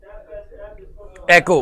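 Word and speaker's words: echo: वैसे कुछ लोग इसको इको प्रोनाउंस करते हैं, लेकिन एग्जैक्ट वर्ड अगर इंग्लिश में, वो कहते हैं ना, बड़े अच्छे लेवल पे अगर अच्छे तरीके से इंग्लिश बोली जाए, तो भाईजान आपके पास मेरा बेटा ये आता है, एको प्रोनाउंस करते हैं।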